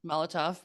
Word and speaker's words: Molotov: Molotov Yes, thank cocktail.